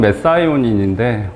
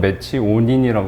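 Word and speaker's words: methionine: 원래 발음은 메사이오닌인데, 우리말로는 메치오닌이라고 많이 하고요.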